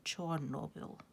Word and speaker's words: Chornobyl: The Russians say Chernobyl, and the Ukrainians say Chornobyl.